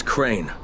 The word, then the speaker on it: Crane: no my name is crane okay crane rhymes with train and brain and sane and gray and Ray